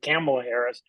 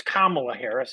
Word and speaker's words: Kamala Harris: and Kamala Harris I my wife has been yelling at me about not pronouncing her name properly Cela Harris uh so it's Kamala Harris I'm trying to get